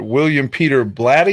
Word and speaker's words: William Peter Blatty: Now, obviously not Friedkin who directed it, but William Peter Blatty.